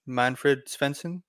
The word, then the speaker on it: Manfred Svensson: To anyone listening in, today's guest is, I believe it's pronounced Manfred Svensson, right?